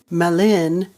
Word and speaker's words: mellyn: Where the word melon means friend, melin means friends in the plural form, and it's spelt with a Y, Mellyn.